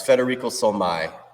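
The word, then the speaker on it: Federico Solmi: his name again uh it's Federico Sol Mai or so me s-o-l-m-i oh okay yeah I've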